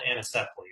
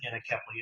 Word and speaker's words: anencephaly: So several years ago, my first child died of a condition called anencephaly, or some pronounce it anencephaly.